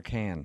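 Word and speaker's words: Cannes: But what's Yeah, but the pronunciation is it con or can?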